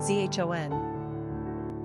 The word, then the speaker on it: Jean: Pronunciation, zhon.